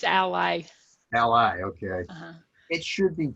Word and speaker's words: Ally: And again, Ally, is that how you pronounce it? It's Ally.